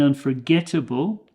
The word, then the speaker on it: unforgettable: experiences edra offers an unforgettable okay getable the G there is the stressed syllable Unforgettable Scottish Adventure so